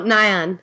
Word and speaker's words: Nyan: I think Nyan is how you say it. I've only seen it typed. Because it's that cat with a Pop-Tart on its back, I think. Oh, Nyan.